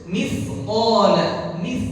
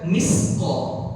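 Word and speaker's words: مثقال: Ujung lidah kita nempel di sini. Sifu, mithqa. Jadi mithqala. Ya, mithqa. Ya, jangan baca misqa. Beda antara mis dengan mith. Kalau mith dia punya sifat apa yang berdesis, dia ada desisnya.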